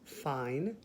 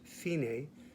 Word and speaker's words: fine: says fine you might see that word as fine but it's pronounced fine because it's italian for finished so at the